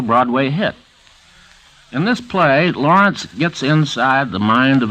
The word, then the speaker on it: Laurents: Brave by Arthur Lawrence the author pronounces his last name like gertude Lawrence or Lawrence of Arabia but he spells l a u r n TS however